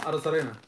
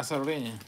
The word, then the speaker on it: Arozarena: Arozarena. Ah, Arozarena.